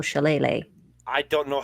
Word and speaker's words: shillelagh: know how to spell shillelagh. I don't know how to spell it. I just spell it phonetically. I like wacky stick. Wacky stick. SHILAYLAY. Shillelagh. Shillelagh.